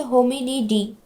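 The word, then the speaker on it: Hominidae: এই বানানটা খেয়াল করো, ডি এ ই, এটাকে আমরা পড়বো ডি। যে সকল গোত্রের নামের শেষে তোমরা ডি এ ই পড়বে দেখবে সেটাকে তোমরা ডি পড়বে।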